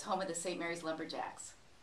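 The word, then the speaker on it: St. Maries: Yes, first of all, it's pronounced St. Mary's.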